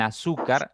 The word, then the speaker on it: azúcar: A diferencia de azúcar en azúcar la intensidad la fuerza está en la segunda sílaba por lo tanto cuando